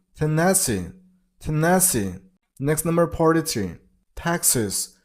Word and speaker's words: Texas: Texas. Stress on the first syllable, Texas. It's not sus, it's sis. Okay? So, Texas. Texas.